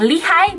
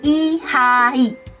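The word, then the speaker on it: Lee Hi: Tulisannya L-E-E sama H-I. Dalam bahasa Korea, nama dia I-H-I. I-H-I. Bukan lihai, bukan lihi, tapi I-H-I.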